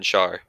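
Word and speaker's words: Schär: defense DeAndre Yellin and Fabian Shar that's how you pronounce it sure sure the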